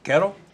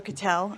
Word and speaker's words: Cattell: Next is Crystal, is it Kettle? Make sure I pronounce that right. It's Crystal Cattell.